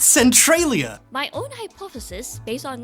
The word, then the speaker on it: Centralia: It's actually pronounced Centralia!